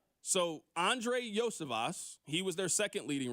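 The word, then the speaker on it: Iosivas: you pronounce his name I'm reading with the text line said yosias so Andre yoas he was their second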